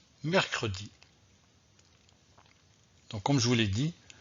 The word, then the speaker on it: mercredi: n'est pas possible donc garder le e pour bien prononcé le mot mercredi donc on joue les